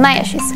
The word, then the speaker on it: MayaXus: In Spanish, the letter X is pronounced sh. That's the reason why we decided to call them Maya shoes, for it to mean the shoes of the Mayas.